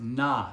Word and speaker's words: Nahe: I believe it's pronounced Nahe, N-A-H-E.